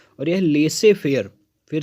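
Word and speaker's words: laissez-faire: तो हमारा जो नेक्स्ट फ्रेज है वो फ्रेंच लैंग्वेज से लिया गया है और यह लेसे फेयर। फिर से एक बार प्रोनाउंसिएशन देखेंगे। द प्रोनाउंसिएशन इज लेसे फेयर। लेसे fair it means leave the individual alone to do work.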